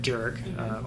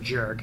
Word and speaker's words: Dearg: So that's why it's called the Aaron Jerg or Aaron Jerg. It's a hard J, but it's spelled with DEARG.